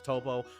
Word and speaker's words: Toppo: can pick toppo or Tapo how they say it in again that might be a localization there is it toppo or Tapo I'm pretty sure it's toppo I'm just going to